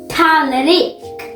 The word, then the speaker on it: tallrik: Tallrik. Tallrik. Tallrik. Tallrik. Did I say it right? Yeah. It sounds like a Frederick or something. Tallrik.